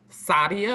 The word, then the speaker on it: Sadia: how do you pronounce your name sadia like saudi arabia oh i love it